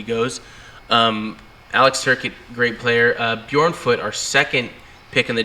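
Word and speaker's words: Björnfot: latest pick, was it, how do you pronounce his name? Tobias Bjornfoot.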